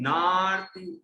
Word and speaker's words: नार्ति: तुभ्यं नमस्त्रिभुवनार्ति, नार्ति नार्ति है ना, वो राकी रेव जो ती पे लगी है वो ना के बाद पढ़ी जाएगी, नार्ति हराय नाथ, तुभ्यं नमः क्षितितलामल भूषणाय, तुभ्यं नमः क्षितितलामल भूषणाय, तुभ्यं नमस्।